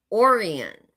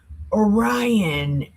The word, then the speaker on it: Orion: Arcturus Oran and Poliades and the Chambers of the South which does great things past Do you want to know how to say them right? It's Archalus, Archelis, Orion, and Pilates.